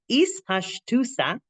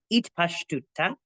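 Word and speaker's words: אתפשטותא: Hu raya mehemna hakavana bazeh he gam ispashtusa. That's how we're going to pronounce it. Okay, it's also pronounced itpashtuta.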